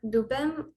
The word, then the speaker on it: Dubem: oh okay um uh dubem i hope i'm saying your name right there yeah um yeah you said it right um so my name